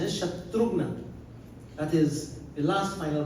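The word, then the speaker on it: शत्रुघ्न: Shatrugna, some people say Shatruhan. Shatruhan is, the correct pronunciation is Shatrugna.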